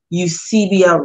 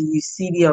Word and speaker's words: Eusebia: And Edward was the first, the ship was called the, I'll spell it, it's the E-U-S-I-B-I-A. Eusebia Roy is what it was called.